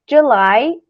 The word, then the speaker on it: July: october November e December July e August é bem importante vocês lembrarem a pronúncia porque a escrita não parece muito com a pronúncia tipo Jully parece ser Julie e querida J Julie